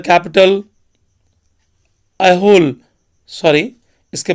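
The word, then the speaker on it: Aihole: अलीहोल वॉज the capital, अहोल, sorry इसके pronunciation को आप देख लेंगे।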